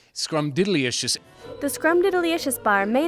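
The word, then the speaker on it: Scrumdiddlyumptious: Well, I'm personally subject to the Scrumdilicious Wonka Bar. This, now, it's so often mispronounced. Say it again. Scrumdilicious? No. It's Scrumdilicious. There's diddly in there. You gotta put the idly in there with the Scrumdiddlyicious.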